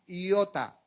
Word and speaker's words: iota: Biblia nosotros dice J, pero no es ni una tilde ni una J, no. Eso se llama, se escribe así en el español, pero es una iota. Tampoco es con Y, sino iota.